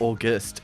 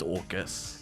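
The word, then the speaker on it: Orguss: It's not August. It's Orcus.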